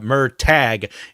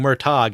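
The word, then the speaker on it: Murtagh: yesterday where I was pronouncing uh mer tag instead of M sorry I was saying MOG instead of Mer tag for Aragon yeah so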